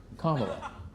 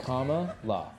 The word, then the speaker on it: Kamala: Kamala. Kamala? Yeah. Kamala? Like comma, la.